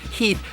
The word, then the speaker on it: Heth: like General Heath, and they wrote Heath, parentheses, pronounced H-E-E-T-H. So we would know it was pronounced Heath and not Heth.